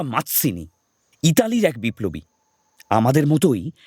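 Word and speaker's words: Mazzini: পাশ থেকে লাবণ্য ঝুঁকে বইটা দেখে বানান করে পড়ল, জুসেপ্পে ম্যাজিনি। ইনি আবার কিনি? এনাকে তো নাহি চিনি। মাৎসিনি নয়, উচ্চারণটা মাৎসিনি।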